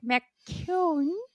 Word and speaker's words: McKeown: here together today with Patrick McCune I hope I pronounce it right it's perfect it's perfect great so Patrick is